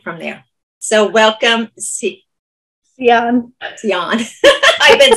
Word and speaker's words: Siahn: Siahn. I've been saying her name wrong for years, and so right.